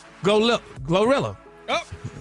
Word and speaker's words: GloRilla: Glorilla. Oh, is she around? Go look. Oh, go look at her. Don't forget that L. Glow, not go.